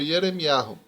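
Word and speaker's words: ירמיהו: para o português e no original hebraico Jeremias é pronunciado como hiero então quem tem o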